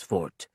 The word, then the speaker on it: forte: While weapons in apprehension, if that is the correct word, are not my forte, I pronounce fort properly as fort, as all problem solvers have been trained to do.